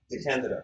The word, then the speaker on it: DeCandido: DeCandido. Second syllable.